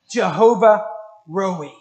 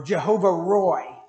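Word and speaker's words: Jehovah Rohi: Covenant names of God is Jehovah rui or Jehovah Roy depending on your pronunciation anybody know what that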